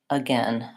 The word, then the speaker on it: again: But sometimes it can be tricky and it's spelled with an A, like in any, or says. Or it can also be spelled with AI, like in again.